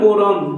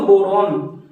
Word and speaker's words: boron: बहुत फर्क है इसमें। इसकी स्पेलिंग होती है BORON और इसकी होती है BORAN। डाइबोरेन पढ़ते हैं इसको पढ़ते हैं बोरॉन।